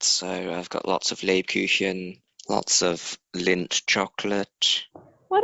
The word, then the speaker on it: Lebkuchen: It's the same sound as ich.